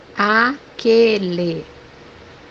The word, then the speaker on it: aquele: The second pronunciation is a light A or a light A. The example that we have here is the word that, which in Portuguese is Aquele, aquele.